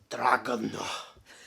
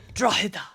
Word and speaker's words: Drogheda: We are going to Dragon. Is that how you say it? Nope. How you say it? That was fun though. Drogheda.